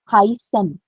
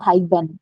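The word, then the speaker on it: heißen: Pronunciation is of S. You have to emphasize on letter S whenever you see this word letter. So this word is called Hysen. It's not Hyben, no? So S pronunciation it will take. Hysen, Hysen.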